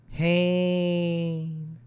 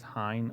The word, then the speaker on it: Hayne: Does anybody ever really enunciate Hayne? Hit him with the Hayne. Maybe like an Owen Wilson. Hayne. The most mispronounced version of my last name is Hein or Hen.